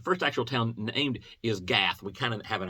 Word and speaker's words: Gath: actual town named is gath we kind of have an idea about gath that's where goliath was from and the sound would be got and it sounds like